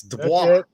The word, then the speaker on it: Dubois: It's Dubois. That's the French pronunciation. Otherwise, Dubois is what everybody calls me. But what is it actually? Hey, I say Dubois really, but every teacher I ever had in school said Dubois.